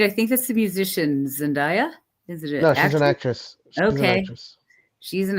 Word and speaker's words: Zendaya: Zendaya? Is that how you say her name? Yeah. Yeah, Zendaya.